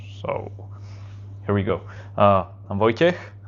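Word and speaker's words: Vojtěch: I'm Vojtech. It's a strange pronunciation for you, I guess. It's because I'm from Slovakia originally.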